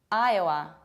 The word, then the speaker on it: Iowa: And it's not Iowa, Iowa, Iowa, it's Iowa, Iowa.